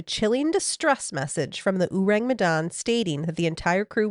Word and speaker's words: Ourang Medan: Urang Madan. This was Megan before recording. Uring mad.